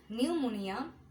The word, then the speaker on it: pneumonia: Pneumonia, pseudo, psychic, psychology, psychotherapy, psychiatrist, raspberry and receipt. সো এগুলোতে আমরা পিটাকে বলি না, পিটা বললে আমাদের প্রোনাউন্সিয়েশনগুলো রং হয়ে যায়।